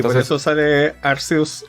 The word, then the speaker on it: Arceus: de Arceus del anime, tuvieron que cambiarle oficialmente la pronunciación a Arceus, y no Arceus, porque en el Reino Unido, en Inglaterra, de hecho en Europa en general, Ars es como decir as, es como decir poto.